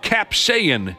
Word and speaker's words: capsaicin: Denmark's Ministry of Food announced they've pulled them for having too much capsaicin, is how you say it.